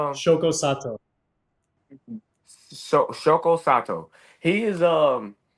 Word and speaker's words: Shoko Sato: I say Shoto Soto, how do you say his name? Um, Shoko Sato Shoko Sato.